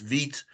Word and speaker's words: Vite: There's a newer thing that's called, I believe it's pronounced Vite, V-I-T-E, that you can use.